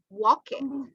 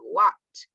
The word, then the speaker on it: walked: We're going to learn the pronunciation because we don't say walk it. We don't say walk it. No, we say walked.